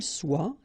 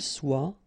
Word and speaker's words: soit: que vous soyez, qu'il soit, qu'elle soit. Okay, so as usual, good news is that soit, and then soit here. You write them differently, but then you pronounce them the same way.